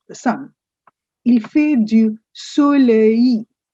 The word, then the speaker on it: soleil: Il fait du soleil. Simple, soleil. The last l is silent.